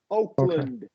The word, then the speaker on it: Oakland: we're going to turn that into a Shah Oakland Oakland Oakland that's right the only C Oakland